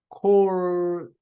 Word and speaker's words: corps: core, CORPS는 발음할 때 이 PS는 무음이 돼요. 예. 발음하지 않아요.